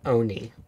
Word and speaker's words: Oni: And also, it's pronounced Oni. Oni.